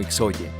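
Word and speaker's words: ΙΧΘΥΣ: Esta palabra es también la palabra griega para pescado, ictus, la cual cuando es deletreada en el griego en mayúscula es ixoye, razón por la cual algunos la pronuncian como ixoye.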